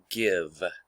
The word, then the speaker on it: give: the typical spelling pattern this e should tell the i to say its name it should say guyb but it does not it says give here it does follow